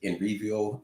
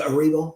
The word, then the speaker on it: Erivo: My thing with Enrivo, is that how you say her name? Cynthia Erivo.